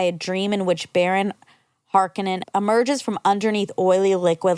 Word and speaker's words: Harkonnen: Harkonnen, thank you. Harkonnen bathing in oil is another unsettling aspect of the character and one that doesn't appear in the books.